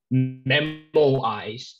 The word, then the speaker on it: memoize: call shame on to supplement some information okay memo eyes that's how i pronounce it um it's derived from a latin